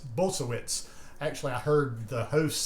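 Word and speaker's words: Bulsiewicz: exam room but it was with dr will bolsevitz bolsowitz actually i heard the host say that his name so i'm learning how to say it dr will bolsoewitz who is the author of fiber fuel that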